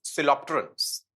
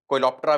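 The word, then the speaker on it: Coleoptera: Flies डिप्टेरन्स and Beatles सिलोप्टेरन्स। कोइलोप्टेरा भी लिख देते हैं, सिलोप्टेरा भी प्रोनाउंस कर देते हैं।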